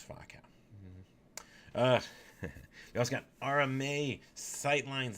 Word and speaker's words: Faux Cow: It's Fa. So it's Fa Cow.